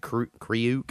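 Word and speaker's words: Kreuk: Anyway, so my number 3 is from Smallville, who is Lana Lang in Smallville, and her name is Kristen Crook. I think they pronounce it Kriuk.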